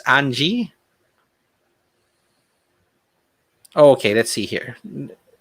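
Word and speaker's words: Anje: Yes, considering that Innistrad theme is very Transylvania, okay, I'm inclined to pronounce it, okay, with a German J. How would that be pronounced? So it's Anji? Okay, let's see here. Anyi.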